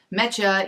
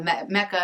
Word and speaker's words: Mecha: And this yarn is Mecha. It's spelled M-E-C-H-A, like some people call Mecca, and they leave the H off.